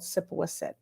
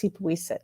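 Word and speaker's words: Sippewissett: saw the sign for a village called sipoiset which we now pronounce sipuisit the place of the brook and i'm not really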